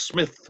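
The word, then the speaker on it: Psmith: characters in his work whose name was Smith but it was Smith with a silent P at the beginning so he said this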